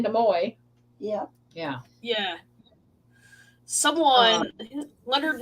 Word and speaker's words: Nimoy: Yeah, I knew Nimoy. Uh-huh. Yeah. Nimoy. A lot of people say Nimoy.